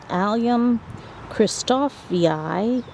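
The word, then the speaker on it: Allium christophii: I absolutely love them so that one is pronounced um alium christofi and uh Maan Nei um so it's a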